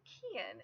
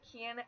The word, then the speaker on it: Cian: I, of course, think Cian would make a great Ian alternative because they're only one letter apart in spelling and pronunciation.